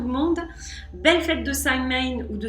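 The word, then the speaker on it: Samhain: Halloween à tout le monde belle fête de sain ou de Sin comme le prononcent les les Celtes je vous souhaite plein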